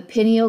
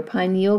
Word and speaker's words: pineal: Above that, you have the pineal gland or pineal gland, depending on which way you want to pronounce it.